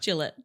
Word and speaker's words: Gillott: Today we're in Wulong here with Gillet. Is that how I pronounce it correctly? Gillette. Close enough. How do you say it? Gillette.